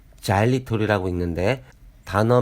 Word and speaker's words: xylitol: 드물다는 것이 다행이라면 다행입니다 보이시는 단어 xylitol 은 자일리톨이 라고 있는데 단어 맨 앞에 알파벳 x 는